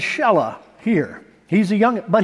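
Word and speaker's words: Shelah: his name was shella I know a person named Sheila but they pronounce this shella here he's a young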